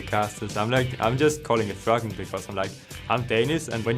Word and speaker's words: Froggen: The pronunciation of my name has always been up to the casters. I'm just calling it Froggen because I'm Danish, and when you're ending sentences,